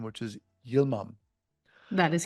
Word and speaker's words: Yilmam: the podcast very excited to have back Pilla Gilman Pilla welcome thank you so much you're welcome I'm sorry I mispronounced your last name which is Yom that is correct yeah all right awesome it's